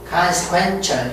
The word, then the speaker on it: consequential: consequential, 철이라고 말합니다.